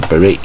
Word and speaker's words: beret: 重音在第二个音节 ,beret, 贝雷帽 ,cowboy hat, 啊，当